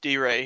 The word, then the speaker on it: DeRay: I love first off, it's pronounced D-Ray. He gets really mad when you mispronounce. D-Ray? Yeah, it's D-Ray.